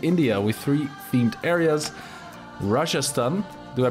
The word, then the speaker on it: Rajasthan: Rajasthan, do I pronounce that correctly?